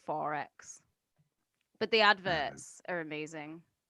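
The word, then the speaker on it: XXXX: Quadruple X. Yeah, you just call it 4X.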